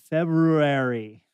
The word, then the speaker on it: February: say it february but the r is like hey i'm here don't worry about me but don't pronounce me all right yeah what